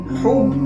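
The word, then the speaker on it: حب: যখন আমরা হুব কথাটি বলবো, তাহলে হা কথাটি উচ্চারণ হয় সিনা থেকে, বুক থেকে একটা হাওয়া বের হয়, হা।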